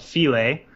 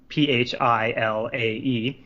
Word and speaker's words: Philae: So it's called Philae, Philae, and I did look up the pronunciation.